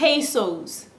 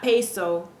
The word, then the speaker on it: peso: sayra but it's really ngra ngra another commonly mispronounced word peso we I two p pesos no it's not peso it's peso peso keep that in mind try